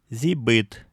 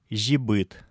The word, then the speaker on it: зибыт: Во всех других случаях, в том числе перед «и» с точками, эти буквы произносятся как «с», «з», твердые. Например, силь – мясо, зибыт – тихий. Еще раз. Силь, зибыт. Для таких случаев и используется «и» с 2 точками. Если бы здесь стояло простое «и», то эти слова читались бы как «щиль», «жибыт».